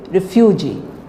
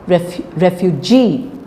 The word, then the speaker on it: refugee: cigarette overtake Refugee Refugee you know we say Refugee please don't say Refugee it is refu Refugee okay so we're trying to